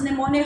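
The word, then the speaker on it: mnemonic: neonic the words and this device is called pneumonic device where m is silent now what are those pneumonic how it became a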